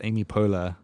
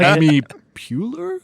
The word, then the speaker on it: Amy Poehler: But there were like fun little moments where he would mispronounce Amy Poehler on purpose. He's like Amy Puller, and then like Okay.